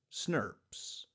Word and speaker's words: snRNPs: nuclear ribonucleoproteins is snrnps which we can say phonetically as snobs so RNA splicing requires